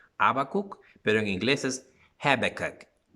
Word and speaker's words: Habakkuk: No estoy seguro si así se pronuncia en español, Habacuc, pero en inglés es Habakkuk. Como que te estás riendo, Habakkuk, Habakkuk.